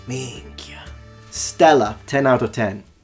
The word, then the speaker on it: minchia: He said it exactly like a Sicilian would. He has a proper Sicilian accent when it comes to the way he pronounces it. Minchia.